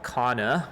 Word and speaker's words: Kanna: Um, so today we're going to be talking about a product called Kana, which is spelled K A N A. Kana, not to be confused with cava, which is a popular plant compound.